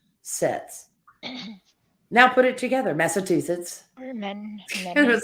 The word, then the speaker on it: Massachusetts: but it's it's it's an easy word to learn to say when you break it down phonetically but I've known people like with Massachusetts they have trouble saying it they say Massachusetts and I would say can you say achoo like mimicking a sneeze and then yes I